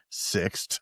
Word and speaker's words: Sixt: And I asked them, how do you pronounce it? And the girl looks at me at the counter. She goes, Sixt. I said, okay. She goes, it's a German company.